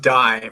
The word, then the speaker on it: Dai: Well, my name is pronounced Dai, for those that are probably looking at that and thinking, what is that? And it's a Welsh name, means David.